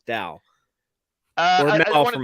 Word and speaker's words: Dal: him Doll instead of Dal, and so like every time I say his name, I have to like pause and think and remind myself. Yeah, Yeah. like it rhymes with Weird Al, like Dal or I Mel wanted from to Firefly.